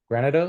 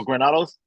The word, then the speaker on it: Granados: your link here and how do you say your last name grenados oh granados granados yeah I can even my